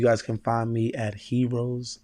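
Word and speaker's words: Herose: can find me at heroes fitness and it's spelled h-e-r-o-s-e because he rose again you know um but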